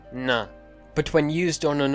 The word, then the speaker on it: nã: when used on an inflecting verb root, it's pronounced na.